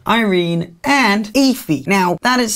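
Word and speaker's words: Aoife: his two older sisters are called irene and ify now that is spelled like this a-o-i-f-e which is incredibly confusing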